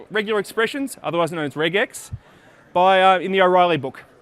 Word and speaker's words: regex: expressions otherwise known as reg X by in the O'Reilly book it's a portmanteau two syllables come together reg X you're probably not going